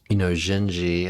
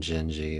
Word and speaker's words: Dindi: the past, and so I have done a video on Genji, which I believe I'm pronouncing it correct, but it's spelled Dindi.